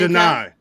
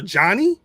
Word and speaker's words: Janai: How you say her name? Janai. No, because I saw. I guess she was on. I don't know if it was some AEW show, but they kept calling. They calling her Johnny.